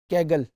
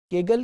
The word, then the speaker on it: Kaggle: اس site کا نام جو ہے وہ کیگل, یہ اب آپ اس کے اسپیلنگ دیکھ رہے ہیں KAGGLE, کیگل کے نام سے وہ ڈیٹا سیٹ ہے.